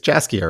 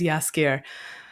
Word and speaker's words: Jaskier: from existence um uh it's jaskier right yeah scared thank you I don't know how to pronounce the J properly yeah yeah I think it is yaskir anyway geralt and yaski